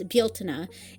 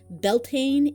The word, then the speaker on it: Bealtaine: The Irish word for the month of May is Bieltana, and the spelling, Beltane, is very, very modern. It's an anglicized respelling, and the pronunciation Beltane is a very, very modern thing.